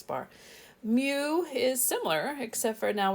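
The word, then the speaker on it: μ: see this Greek letter it's pronounced mu like a cat mu that's a population mean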